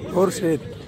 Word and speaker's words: খুরশিদ: আর উচ্চারণ করতে কি করবেন? বলে না কি? খুরশিদ। তিনজনে বলছি খুরশিদ। খুরশিদ।